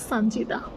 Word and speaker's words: সানজিদা: আমার full name হচ্ছে সানজিদা। ওকে, এখানে আবার একটা টুইস্ট আছে, সানজিদা নট দা।